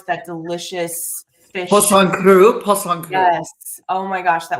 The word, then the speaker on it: Poisson cru: gosh, how do you pronounce, how do you pronounce that delicious fish? Poisson cru.